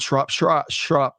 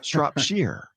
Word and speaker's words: Shropshire: It's not Shropshire. Shy. It's Shropshire. So great to have you back, Andrew.